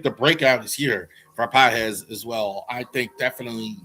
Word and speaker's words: Pages: I'm I'm so tempted to honestly say Andy Pages, but that's not how you say it. Andy PZ for the Dodgers as well.